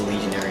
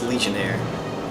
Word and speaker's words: Legionnaire: Oh my god, it's not even pronounced Legionary, it's Legionnaire.